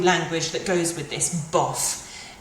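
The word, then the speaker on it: bof: that goes with this buff it's pronounced like this like it says buff bu buff it's very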